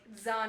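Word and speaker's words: Zahn: the chat one day it's like Zan is pronounced like thraw yeah yeah that is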